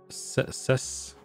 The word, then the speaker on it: Cestus: Cestus. I almost even pronounced it like cicada, because I don't know.